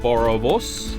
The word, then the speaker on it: boerewors: Boerewors.